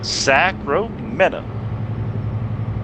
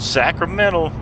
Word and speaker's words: Sacramento: 218 miles to the old destination, Sacro Meta. That's not how you say it at all.